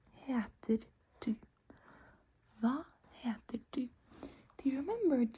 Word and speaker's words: hva: We don't pronounce the H when there's a V coming after the H. So, since there's an H and then a V, we just ignore the H and say the V.